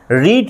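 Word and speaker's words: read: এবং past participle form তিনটে ফর্মের কিন্তু বানান একই শুধু উচ্চারণ আমরা আলাদা করি রিড রেড রেড কিন্তু স্পেলিং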